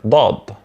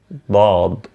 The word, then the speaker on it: ضاد: In those figures, you could notice the differences between the sound of D and the sound of ضاد, and how to produce each one of them.